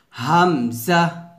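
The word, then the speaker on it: همزة: আমার সাথে উচ্চারণ করেন, হামজা হামজা, এভাবে হামজা। এই হামজাটা কিন্তু ফাস্ট পড়তে হবে, টান দেওয়া যাবে না।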